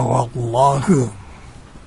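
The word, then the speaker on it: والله: Kenapa bacanya wallahu? Karena alif lamnya tidak dibaca.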